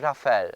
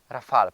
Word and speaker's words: Rafale: Renault Rafal cały czas chc powiedzieć Rafael, ale to się chyba wymawia Rafal, prawda?